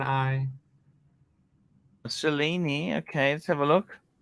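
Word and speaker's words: Cellini: would you go why why go for that chelini TR trust me it's the best looking up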